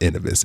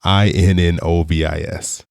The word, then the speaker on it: Innovis: It is so infrequently referred to that I'm not quite sure that I'm pronouncing it correctly, but I believe it is pronounced Innovis, Innovis.